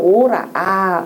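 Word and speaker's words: 吁: 기왈 오라. 탄식할 때는 오라고 읽으라 그랬죠.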